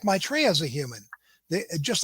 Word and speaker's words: Maitreya: Maitreya?